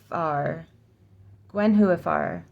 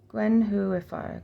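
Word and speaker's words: Gwenhwyfar: oh Gwen who if Gwen whoar Gwen whoar Gwen who emphasis on the who IFR Gwen who if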